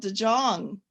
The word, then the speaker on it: de Jong: And we also have a special guest from the Netherlands, Gerald de Jong, properly pronounced, who's going to be showing us some of his amazing work.